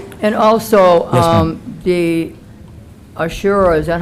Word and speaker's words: Ashura: And also, um, the Ashure, is that how you say it? Ashura.